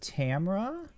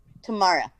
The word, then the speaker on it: Tamara: But I'm from the South, so I pronounce it Tamara because we just like drag we just shorten shit in the South. So we just don't even pronounce that.